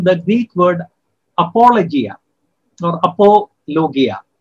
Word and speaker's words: apologia: Actually, this word apologetics comes from the Greek word apologia or apologia, correct pronunciation.